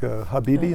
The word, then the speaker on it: Habibi: - And you wrote a young adult book, Habibi, am I saying it correctly?